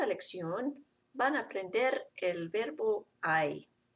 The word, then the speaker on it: hay: van aprender el verbo I in this lesson you're going to learn the verb I which means there is or there are it's spelled like hey in English but you pronounce it like I remember you don't pronounce